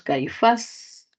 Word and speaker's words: caifás: Luego tenemos caifás, justificación aguda, sílaba tónica, faz.